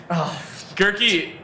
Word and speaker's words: Goerke: his credit took a knee jerk II had the head injury yes sorry yeah that's that's a he sick okay so I've said it wrong Goerke has the injury and